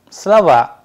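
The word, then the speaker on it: слова: a very significant role if i am saying the word slower it is in singular which means a word if the stress sign changes from o to the second o it will change into slava which means words likewise we have words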